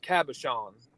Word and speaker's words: cabochon: you rob that's called that word is pronounced cabochons and Jessica said the only reason why she remembers it is because it's friend yeah yeah that's the pronunciation is cabochon if I'm right Jessica am I I